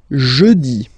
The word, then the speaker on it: jeudi: Next one, jeudi. Jeudi. Remember, when you combine this U, you get the sound E.